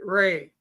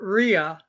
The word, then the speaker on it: Rhea: I don't think maybe is Or they pronounce it Ray, Rhea. Oh, okay. not Rhea, Ray. Ray.